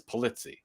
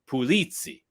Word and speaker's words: Pulizzi: ancestors are from so the Americanization of my name is pulitzy so that's how you pronounce it now when you go over to Sicily Marcella Sicily it's pulitzi and I that's the first time I heard anybody pronounce it correctly and I was like